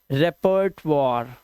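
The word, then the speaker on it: repertoire: ठीक है, रेपर्ट वॉर, रेपर्ट वॉर और लास्ट का ही साइलेंट, रेपर्ट वॉर।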